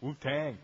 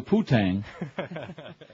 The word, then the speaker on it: Wu-Tang: Wu-Tang. You gotta say it like that. You gotta say it properly. Well, don't be saying no Poo-Tang.